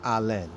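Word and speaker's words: Allyn: Allen, well, he says it as Allen, right? But it's spelled A-L-L-Y-N, Legasa.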